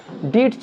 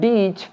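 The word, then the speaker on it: ditch: ঠিক একইভাবে এখানে আমরা দেখছি কিচেন, ট উচ্চারণ হবে না, কিটচেন আমরা বলবো না, ক্যাটচ বলবো না, টি সাইলেন্ট ক্যাচ, ডিটচ বলবো না, ডিচ, এবং ওয়াচ বলবো না, ওয়াচ।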